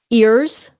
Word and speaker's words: ears: is falling out okay ears ears ears ears Z ears okay see if I got